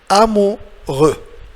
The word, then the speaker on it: amoureux: Alors, X est muet, comme j'ai déjà dit, as I said from before, so silent X, mute X, il ne faut pas la prononcer, you should not pronounce it. Amoureux. So, EU, if you remember, EU, il faut la prononcer comme E, and OU, the OU, it's O. It's somehow like double O in English.